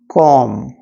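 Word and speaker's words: comb: एन यू एम बी इन सारे words में जो बी रहता इसका साउंड नहीं होता जब हम इसको प्रोनाउंस करते इसको बोलते तो कॉम नम तम तो कॉम थ्रू का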